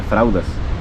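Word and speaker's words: fraldas: pañales en fraudes buenos escribe faldas se pronuncia fraudes por otro lado también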